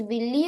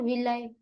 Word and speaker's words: villi: Ma'am, is it pronounced as Willy or Villi? Both are okay.